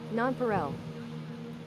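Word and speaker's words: nonpareil: How's it actually pronounced? nonpreel. I don't know. I've I mean, I think it's French, so you could really get into it if you wanted, but nonparel. Oh, nonparel. Okay. Nonparel.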